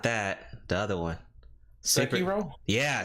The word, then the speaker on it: Sekiro: Sekiro? Yeah, Sekiro, like that. Oh, Sekiro? Yeah. Okay. Yeah. Right, I butchered that one.